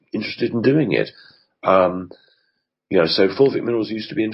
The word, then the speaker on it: fulvic: And what about, can this fulvic mineral be found in something natural that we can buy or get? Well, just to be clear, for the pronunciation, it's fulvic with an F.